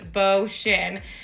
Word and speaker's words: Beauchene: My husband makes fun of the way that I say that sometimes, but I'm 99% positive it's pronounced Beauchene, but it means beautiful oak.